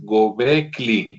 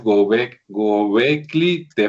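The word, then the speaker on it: Göbekli Tepe: Sí, que por cierto mientras te acomodas, este, creo que lo pronuncié mal, parece que es Gobli, o sea, la L es después de la K, entonces parece que es Gobecli te, ¿verdad?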